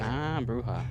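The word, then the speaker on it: Brujah: It's pronounced clen bruha. What? Bruha.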